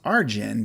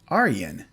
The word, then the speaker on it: Ayreon: and then i thought the first name was arjin but i'm like wait wait this is dutch i should probably look it up and sure enough you pronounce it aryen and then i was facepalm right aryan so